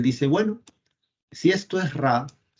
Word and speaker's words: Ra: Y sol de mediodía en egipcio antiguo se pronuncia así. Vamos a ver acá. Aquí está. Sol de mediodía, que es el sol de la parte más alta, se pronuncia así. Ra.